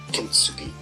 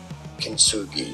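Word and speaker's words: kintsugi: Kinsugi, who also referred to as English pronunciation, Kenugi.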